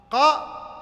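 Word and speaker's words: ق: Si je te demande maintenant de prononcer qa, ça se prononce quoi? Au fond de la gorge, ici, hein, à la fin.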